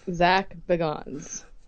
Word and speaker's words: Bagans: So we say Zach Baggins, and I think that he thinks it's Zach Beggins. Because he, in his dumbass audiobook, called it, he pronounced it strangely, that I swear is not the same way he pronounces it on the TV show, and I was just